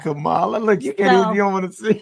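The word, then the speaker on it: Kamala: in San Francisco that what we called her Camala Camala look you can't you to you can't say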